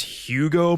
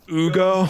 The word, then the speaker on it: Hugo: But every now and then, some pretentious dick would call up and be like, your voice recording didn't pronounce Hugo properly. It's pronounced Ugo.